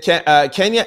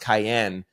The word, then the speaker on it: Kiyan: Here's a clip of I think it's pronounced Kiyan. K-I-Y-A-N, Kiyan. My cousin's going to call me.